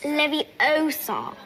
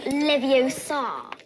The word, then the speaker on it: Leviosa: someone's eye out besides you're saying it wrong it's leviosa not livio sar that's totally barbaric look